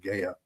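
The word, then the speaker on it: Gaia: There's a there's a series on Gaya, the Gaya channel, G AIA. That's how I pronounce it, Gaya.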